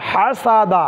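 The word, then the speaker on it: حسد: সা দাল জবর দা হা সাদা হাসা এখানে হা চাপ দিয়ে হাসা দাদা হাসা দাদা ওয়াকফ করলে হাসাদ হাসাদ হাসাদ তাহলে এখন আমরা উচ্চারণে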